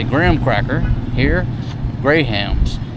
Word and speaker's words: Graham: here they don't say graham crackers you pronounce the h they're called Grahams a